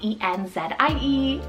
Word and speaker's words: Enzie: On the girl side, we have Enzie, spelled E-N-Z-I-E, Enzie.